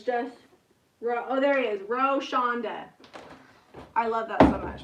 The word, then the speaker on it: Roshonda: Roshonda? You don't pronounce the W? That is way easier.